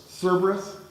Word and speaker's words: Cerberus: I don't even know how to pronounce that. Cerberus.